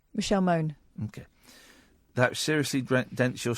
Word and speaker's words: Mone: never know how to say her name, Michelle Money. Michelle Moan.